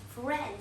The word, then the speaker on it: friend: the next word is friend for red i'm gonna show you you do not pronounce i ran friend say it friend i is a naughty